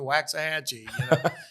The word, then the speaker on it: Waxahachie: He goes, "I finally got to where I could, and we moved to Waxahachie." So, the T is silent.